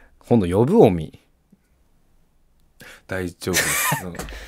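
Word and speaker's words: 尾身: うん実はえおみさんのアクセントがおの方につくそうですおの斧えおの実の方に下がるえビーズのイントネーションと同じらですおお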